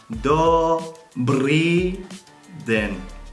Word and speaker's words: Dobrý den: The most formal way you can say hello to somebody is Dobrý den, pronounced Dobrý den, which means good day.